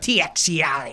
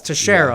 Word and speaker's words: Teixeira: It looks like Teixeira. Just wanted to clarify. If you sounded it out. No, it's Teixeira.